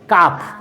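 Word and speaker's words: calf: तो इसको हम लोग सी एल एफ कालफ नहीं बोलते हैं। क्या बोलते हैं? काफ। क्या बोलते हैं? काफ। एल का उच्चारण आ रहा है ल?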